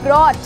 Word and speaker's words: brought: अगर मैं बोलती हूँ ब्रॉट, BROUGHT, ठीक है, तो यहाँ पर भी GH बेटा बीच में आया तो इसे भी हमने नहीं पढ़ा और हम केवल बोलेंगे ब्रॉट।